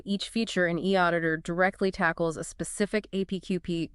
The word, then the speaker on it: eAuditor: Remember the pronunciation, e auditor, offer a remarkably efficient, effective way to actually do it.